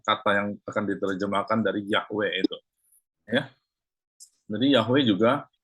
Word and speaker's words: Yahweh: Zhongwen dalam bahasa Chinese diterjemahkan Yehovah. Nah, sampai sekarang masih tetap Yehovah. Jadi sudah mulai orang mengikuti YHWH. YHWH bacanya apa? Susah juga bacanya, nggak bisa dibaca. Jadi akhirnya orang sebut Yahweh, Yahweh.